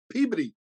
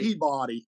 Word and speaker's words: Peabody: Yeah, and it's I can tell that you've actually been there because you pronounce it correctly, Peabody rather than Peabody.